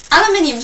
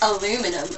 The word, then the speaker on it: aluminium: Yeah, aluminium's a really cool word. In America they say it like aluminum, and I think that sounds so much better than aluminium.